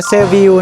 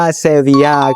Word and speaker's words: Seville: คำ นี้ นะ ครับ บาง คน อาจ จะ อ่าน ว่า เซวิil นะ ครับ แต่ จริง ๆ ออก เสียง ว่า เซเวีย ครับ เมือง เซวิ เนี่ย มี